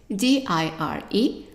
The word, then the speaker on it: dire: So the verb to say first here is dire. Remember, the E is silent and the I is pronounced as an E sound.